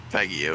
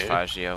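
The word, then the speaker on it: Faggio: registered it as an off-road vehicle I suppose fago is kind of a slurf ob8 eclipse I mean that's what the vehicle name is I think it's actually pronounced fagio it's Italian yeah it is fagio I know but we I'm sorry how do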